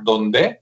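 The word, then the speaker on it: Dondé: Ingeniero que se apellida Donde, así como Donde, pero con el acento en la E, que está muy bueno,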